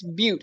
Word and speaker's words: Butte: No, it's Butte. It's spelled butt with an E on the end.